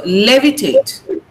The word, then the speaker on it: levitate: The stress is on lay. So levitate. Now tate should not be prominent.